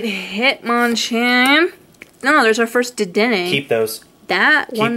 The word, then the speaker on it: Dedenne: That's how it's pronounced, people. Dedenne.